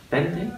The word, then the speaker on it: veinte: And veinte. Veinte. Yeah. Veinte. And the V, it's a V, isn't it, 20? But it's pronounced as a B. Almost. It's pronounced like a B, yeah.